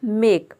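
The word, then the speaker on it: make: तो देखिए, यहाँ पे एम का मॉ हो जाएगा, ए का हो जाएगा ए, के का हो जाएगा क, और ई का हो जाएगा, यहाँ पे जो लास्ट में ई आया है वो ई साइलेंट है। यानी कि किसी भी वर्ड के अंत में अगर ई आता है तो वहाँ पे ई साइलेंट है। ये रूल है, ये आपको याद रखना है। तो ये हो जाएगा मेक, मेक का मतलब होता है बनाना।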